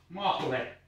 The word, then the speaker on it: Mahle: Mahle. I don't know how to pronounce it in English, but in Finnish it is mahle.